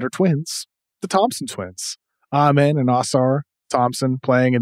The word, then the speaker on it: Amen: I think I think it's Amen right he doesn't pronounce it amen I think it's Amen I absolutely I mean this